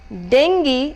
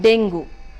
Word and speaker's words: dengue: many of us pronounce the third word which has been making circles in many of our states here is dengue and not dingo de ng u e is dengue and not Dingell let me move on